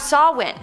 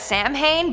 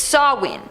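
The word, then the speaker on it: Samhain: Starting off this countdown, we have Sawin, which I always pronounced as Sam Hayne, but apparently it's Sawin.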